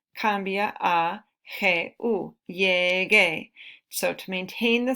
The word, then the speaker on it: llegué: Okay, entonces, para mantener el sonido, G cambia a G-U, llegué. So to maintain the sound, to keep the sound the same, the G changes to G-U, and then it's pronounced llegué.